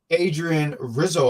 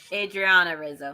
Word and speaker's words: Adriana Rizzo: someone to combat uh Adrien Rizzo I'm hoping I'm saying her name right Adriana Rizzo Adriana okay that was close because I said an A so that's uh uh